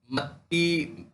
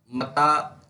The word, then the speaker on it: متی: قدیم ترین انجیل ہے۔ انجیل متی، متی اور متا، یہ کئی طرح سے اس کا تلفظ ہے۔ دراصل یہ انگریزی کے لفظ میتھیو سے لیا گیا ہے، تو کئی دو طرح سے اس کا تلفظ زیادہ عام ہے، متا اور متی، یہ دو تلفظ اس کے زیادہ عام ہیں۔ اس کے مصنف کا